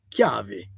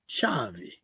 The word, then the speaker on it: chiavi: for key in Sicily, in most places the word will be say chiavi, chiavi, chiavi. If you happen to go to Ragusa or in the Modica area, in Noto, in Ragusa, Noto, Comiso, they will not say chiavi. They will say chavi. So That's quite a sound, difference. yes, quite a difference.